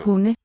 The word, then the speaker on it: hunde: So, Hunde. notice in this one we spell it with a D, but the D is dropped from the sound.